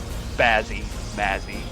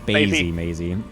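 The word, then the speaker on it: SpazzyMaisy: be the purple protos Spazzy Mazy or spazy Maisy I don't know I'm probably pronouncing it wrong yeah he did uh correct me last season when I was also calling him Spazzy Mazy it is spazy Maisy I love you I'm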